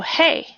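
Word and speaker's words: है: name is n and is is hey just like the word hey okay so so so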